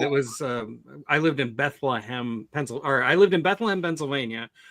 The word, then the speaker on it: Bethlehem: When I used to live in Maryland, it was I lived in Bethlehem, Pennsylvania, which is actually you pronounce it Bethlehem, like you have something stuck in your throat or something. It's Bethlehem.